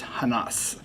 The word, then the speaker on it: Hanas: is a 507H 15325 Hanas, and that is how you say it, I'm told by the breeders, Hanas.